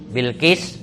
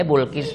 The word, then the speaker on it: Bilqis: sangat cantik bernama Bilqis Bilqis boleh Bulkis boleh dibacanya boleh dibaca Bilqis boleh dibaca Bulkis ya Balqis juga boleh habis bal-balan terus skis-kisan